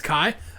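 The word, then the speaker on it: Kei: uh is is kind of flirting with with Kai. Uh is it K or Kai? It's it's Kai. It's Kai. Okay. I pronounce it differently in the in the sub,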